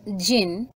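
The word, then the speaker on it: djinn: Dijin, pronounced jin and variously spelt as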